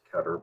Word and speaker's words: Keter: click in one ketter is it ketter or keter i've heard either or honestly yeah me too it's i i just say ketter because i was like heber okay how is that pronounced and apparently it's ketter but i don't really